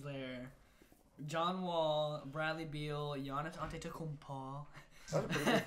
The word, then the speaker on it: Giannis Antetokounmpo: John Wall, Bradley Beal, Giannis Antetokounmpo. That's a pretty good pronunciation.